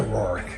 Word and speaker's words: Roerich: He was a mover and a shaker, Roerich. Is that how you pronounce his name?